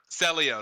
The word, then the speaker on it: Celio: Celio.